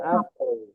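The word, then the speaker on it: العفو: Nah, ini Bu Yulia afwanya ya kan bunyi waw sukun itu gitu ya. Berarti kulil afu.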